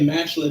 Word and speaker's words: Mashle: Marshall. Mashle. Yeah, I say Mashle because that's how they say it in the second intro, which was what got a lot of people hooked.